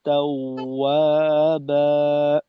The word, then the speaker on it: توابا: আর তাও ওয়া, তাও ওয়া, একেবারে ওয়াওয়ের উচ্চারণ এখানে ও এর মতো, কোনোভাবেই যেন উ এর স্বর না আসে। তাও, তাও। ইন্নাহু কানা তাওয়াবা إنه كان كان توابا।